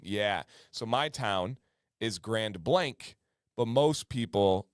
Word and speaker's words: Grand Blanc: heavily French and Native influenced hence the weird pronunciation yeah so my town is Grand Blank but most people say Grand Blanc well and so she just proved my theory